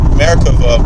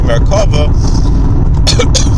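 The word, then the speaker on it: מרכבה: He pronounces it Merkava, but the way we pronounce it in Hebrew, Merkava, using Merkava meditations to actually visit other planets and then to invite aliens to Earth.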